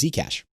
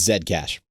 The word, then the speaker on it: Zcash: to show this one this is zcash um or i apologize i say it wrong it's zed cash it's the originator of